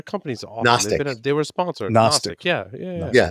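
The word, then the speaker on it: Knostic: Nostic. Yeah. Yeah. Yeah. It's spelled with a K. K N O S T I.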